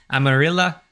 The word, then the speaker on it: amarilla: Verde Lima cyan Morata Double L is more like a y ameria foreign some dialects more like an English J hmm that was that